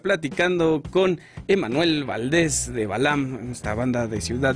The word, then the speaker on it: BALVM: nos pueden encontrar como Balam official Balam en instagram así como como se escucha En plataformas como Balam se escribe B a lvm la v es una av volteada Entonces es como cuidado